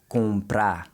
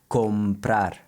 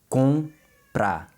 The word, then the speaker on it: comprar: But in Portuguese, this sound is also nasalized, and the best way to practice it is to make sure your lips don't touch when you say it. So it's comprar.